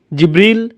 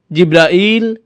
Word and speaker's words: জিব্রাইল: আপনি কিভাবে জিব্রাইল আলাইহিস সালামের নাম বলেন, কিভাবে উচ্চারণ করেন তার নাম? জিব্রিল, জিব্রাইল, জিব্রাইল, জিব্রাইল, জিব্রিল, এই 5 ভাবে তার নাম উচ্চারণ করা হয়।